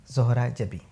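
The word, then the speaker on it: ज़ोहरा जबीं: मैं बता देता हूं जोहरा के जम नुक्ता है जबी के जम नुक्ता नहीं है और यह शब्द है जोहरा जबी तो चलिए शुरू करते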